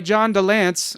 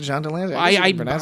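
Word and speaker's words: John de Lancie: The audiobook versions were read by John DeLance. Or is it Delancey? John Delancey. I've heard it pronounced John DeLance is the thing. I've heard it pronounced that. I always pronounce it John Delancey.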